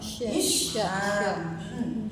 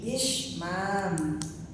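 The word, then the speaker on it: إشمام: Ishmam. Hamzah, shin, mim, alif, mim. Ishmam.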